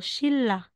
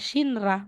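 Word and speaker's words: 신라: lang kahit mahirap po if the final n followed po siya ni real si n daw po ay real po yung pronunciation R or L po yung pronunciation so as in example po ito shinra ' ba po kung babasahin on shinra eh si neon ay followed po ni rol kaya yung basa natin dito shilla so hindi mo sasabihing shinra magiging shilla ito din po yon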